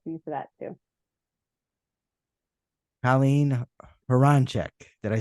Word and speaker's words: Colleen Hroncich: Colleen Hroncich.